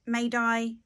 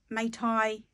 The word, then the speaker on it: Mai Dai: Hi, today I wanted to talk through one of the Thai carriers, and depending on how you say it, Mai Dai, Mai Thai, Mai Day, Mai Dai, it doesn't